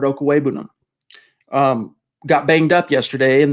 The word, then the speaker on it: Okwuegbunam: zack we knew that albert okawebunum nope i said it wrong again albert okuwebunum got banged up yesterday